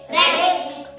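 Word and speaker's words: wreck: त्यानंतर डब्ल आर ई सी के racket रेक म्हणजे तुटलेलं फुटलेलं असं रेकेट क्रेक हा एक प्रकार झाला.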